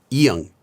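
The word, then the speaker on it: 이응: Now, this letter is normally silent at the start of a syllable, but when it's at the end of a syllable, it's pronounced as ng, kind of like in the word song in English, like ng.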